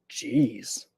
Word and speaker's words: geez: So the G makes a J sound. G's. G's. And um G's is something that you say kind of like gosh. Geez.